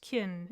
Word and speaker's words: Kin: My name is pronounced Kin in her language.